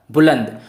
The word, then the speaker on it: बुलंद: उसके बाद निखार है ताकि जब कभी भी आप बिना देखे तो उसका उच्चारण आप ना के रूप में करते हैं तो यहां पर हो जाएगा बुलंद बहुत ही जल्दी मैं